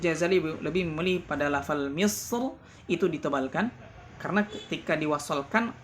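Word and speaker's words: مصر: Nah, Al-Imam Ibnu Jazari di sini beliau memilih kalimat Misr dibaca tebal. Nah, dibaca tebal karena ra-nya berharakat fathah ketika wasal.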